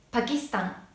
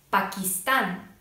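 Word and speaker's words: Pakistán: キスタンパキスタン、ペルーペルー、スーダンスーダンのようにアクセントが、一番最後になります。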